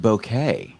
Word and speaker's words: bokeh: in the chat alien bokeh face i know that's hilarious and did you know it's actually pronounced bouquet bouquet alien bouquet face